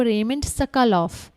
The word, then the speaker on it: Raymond Sokolov: इसको सही प्रोनाउंस करना है आपको, रेमंड सकलोफ।